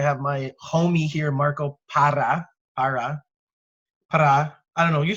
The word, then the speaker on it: Parra: And so this week, I wanted to have my homie here, Marco Parra. I don't know. You say it like you. How do you say it? Parra. Parra. You can roll those R's.